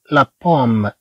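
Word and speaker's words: la pomme: عندنا بي هنا ماشي بي ماشي بي بحال كلمة لابال هذيك فيها بي. هنا عندنا بي مخففة نقول لابال. هنا عندنا بي بي عندنا هاد الباء كما نقول مشددة. إذا نقول لا بوم.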